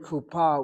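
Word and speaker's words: קופה: They put a vav in there to get the u sound across. When you spell the word kupa with a kamat say it's Hebrew.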